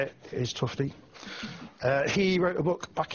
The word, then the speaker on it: Tufte: So Edward Tufte, I had to Google how to say it, is Tufte.